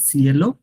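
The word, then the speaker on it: ciel: ওইটা আপনাদের মনে রাখেন সিএলও হচ্ছে স্প্যানিশ ওইটা কিন্তু আমরা বলবো না আমরা বলবো সিএল সিএল that's the স্কাই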